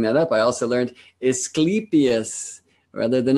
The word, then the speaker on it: Asclepius: teacher who helped me know that the true pronunciation is Clytemnestra. And so hopefully I will clean that up. I also learned Asclepius rather than Asclepius for the great medicine man, the student of Chiron.